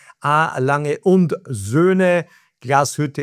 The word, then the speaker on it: Lange und Söhne Glashütte: I pronounce it for you correctly. Lange und Söhne Glashütte in Sachsen.